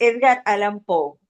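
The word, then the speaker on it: Edgar Allan Poe: no me acuerdo más que que y es Edgar Alan Pou para que cuando lo vuelvan a consultar vean cómo se pronuncia en Google.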